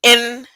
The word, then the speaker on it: Ai: travel was pronounced I AI is pronounced I so when you see the word AI in scripture it's not pronounced AI the land of AI it pronounced the land of I where the Giants were